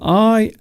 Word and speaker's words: Isla: So I-S-L-A is pronounced Isla.